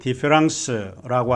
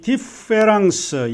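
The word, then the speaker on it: différance: 많은 철학자들은 이 디페랑스, 영어로 디퍼런스라고 하는 이 말에 변별이 어렵다라고 하는 것을 인정합니다. 디페랑스와 디퍼런스, 프랑스 말로 디페랑스는 똑같이 디페랑스라고 발음을 하고 있습니다.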